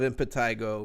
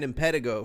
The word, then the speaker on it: Impetigo: I fucking love Impetigo, man. I've been saying it wrong. I've been saying Impetigo for years. It's Impetigo.